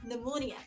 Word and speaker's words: pneumonia: so why did my teacher is saying like pneumonia but after that after a few years when